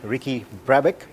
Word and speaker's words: Ricky Brabec: welcome to overdrive we are here with Ricky previck is that right yeah that's how you pronounce it yeah he's the winner of the